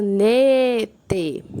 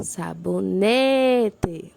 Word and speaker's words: sabonete: é paroxítona G1 o sabonete sabonete né é a penúltima por isso é uma paroxítona agora vamos para as proparoxítonas